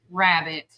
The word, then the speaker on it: rarebit: So I guess you would pronounce it as rabbit, but it's spelled different.